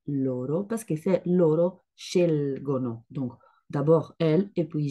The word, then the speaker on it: scelgo: Parfois, ils sont à l'envers. Donc, par exemple, à la première personne, on trouve scelgo, scelgo. La prononciation, c'est pas comme ça, mais c'est scelgo. Donc, vous l'entendez, vous l'entendez pas, mais c'est LG, pas GL.